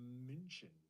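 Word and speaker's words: München: and be like okay m u with an um laude with the two dots over the u n n c h e n mention is the real way oh yeah now this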